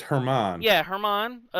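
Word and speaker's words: Germán: I know it's not pronounced German. Oh, it's Herman.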